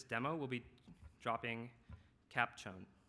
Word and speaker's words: chown: And for this demo, we'll be dropping cap chown. Chown. Is that how you pronounce that?